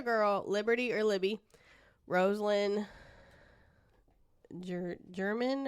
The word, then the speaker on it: German: And then the other girl, Liberty or Libby, Rosalind German or Germain, however you say it.